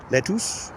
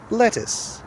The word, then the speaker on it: lettuce: So, it's not lettus, it's lettuce. What else would we put in a salad?